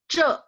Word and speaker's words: 这: Kalau ini bacanya ce, nya perut. Perut, perut. Perut ya. Sebentar. Perut. Jadi e-nya perut maksudnya ya.